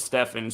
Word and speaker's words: Stephen: Pronounces it Stephen, spelled like Steven.